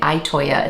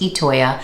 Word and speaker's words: Itoya: I was calling it Itoya. It's actually pronounced Itoya.